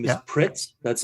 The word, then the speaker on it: Pritz: Kretz, is it? Did I have that correctly? The last name is Yeah. Pritz.